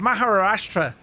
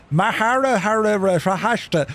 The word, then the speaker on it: Maharashtra: So, you're departing out of Pune in a place called Maharashtra in India. Jess, I did well with that pronunciation, didn't I?